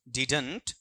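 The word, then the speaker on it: didn't: Neha asked me वाई आई डिडंट mind my on business और मैंने यह भी बताया था डिडंट को अपन क्या पढ़ सकते हैं डिडट बीच वाले डी को साइलेंट रख सकते हैं।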